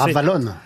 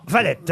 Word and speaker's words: Valette: Vallée, ou Raph Valette, si vous voulez prononcer. Ravalonne. Non, Valette, Raph Valette.